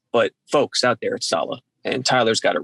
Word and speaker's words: Saleh: and by the way it is salah you are pronouncing it correctly i asked today and they told me at salah the organization i hear people a lot of people keep saying salah and that's one thing